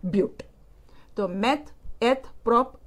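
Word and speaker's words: but-: of four carbon atom the spelling it is written as but but you have to pronounce it as butte so meth prop boot paint hex hept oct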